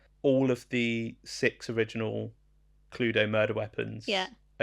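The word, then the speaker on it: Cluedo: Well, I used to say Well, I used to pronounce the E just in the wrong place. Cluddio. I just Can we play Cluddio? Cludo. Cludo.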